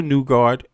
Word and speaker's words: Nygard: On November 23rd, 2020, Peter, this is a recent case, by the way, Peter Nugard, I keep saying that because that's how you say it in Danish or in the Scandinavian vernacular, um, was charged with